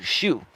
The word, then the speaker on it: Xu: door Dash Tony Shu it sounds like what you wear on your feet but it's spelled XU Tony XU shoe he's a public figure